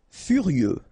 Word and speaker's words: furieux: Furieux, okay, final X not pronounced, furieux, furieux.